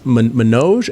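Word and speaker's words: Manoj: is is Indian and I'm going to say it wrong but it's man noge m a n OJ man no man no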